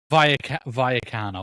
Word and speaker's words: Rayo Vallecano: Rayo Vallecano, am I pronouncing it properly? No, I'm not. Vallecano.